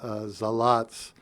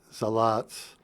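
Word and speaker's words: Salat: about the Zaratsu from Zalatz. So, of course, in German, word initial S is pronounced Z in English, and the word final Z is Ts, a TS sound. And so you have Zalatz.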